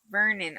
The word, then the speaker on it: Vernon: Vernon.